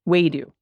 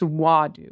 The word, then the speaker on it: wadu: for the pronunciation it's wadu with an ah like saying ah when a doctor wants you to look at their throat I listened to your